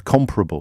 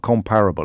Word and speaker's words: comparable: Comparable, not comparable. I always say comparable. Apparently it's supposed to be comparable.